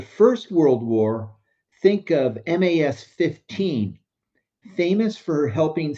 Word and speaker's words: MAS: The easiest way to say it is MAS, one syllable.